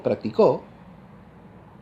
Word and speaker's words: practicó: Y si digo practicó, ahora la voz más aguda es la tercera sílaba.